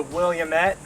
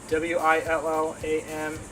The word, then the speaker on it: Willamette: It's called a Williamette. William Et, Willamette, red raspberry.